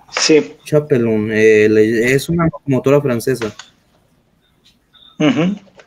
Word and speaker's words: Chapelon: Sí, esa se escribe Chapelon, como Chapellón. Sí. Chapelon, es una locomotora francesa.